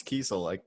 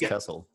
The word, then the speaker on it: Kesel: I realized I mispronounced your name. It's Kesel. I always thought it was Kesel.